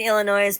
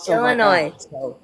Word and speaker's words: Illinois: And I'm like, why does he keep saying the S?